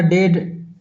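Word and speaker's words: dead: उसी प्रकार डेड डेड में भी ए का उच्चारण नहीं होता।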